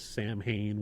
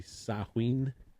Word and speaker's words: Samhain: You know, it has its roots in the ancient Celtic festival of Samhain, which is how most people pronounce it, but it's actually Samhain. It's how it's pronounced, if I'm not butchering it.